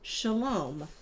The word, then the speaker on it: shalom: And then shalom. A greeting or farewell often spoken by Jewish Jewish people pronounced shalom.